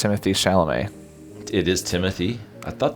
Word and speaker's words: Timothée Chalamet: I'm pretty sure it's Timothée Chalamet.